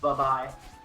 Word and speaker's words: buhbai: So yeah, for the one confused in chat, it is pronounced buhbai.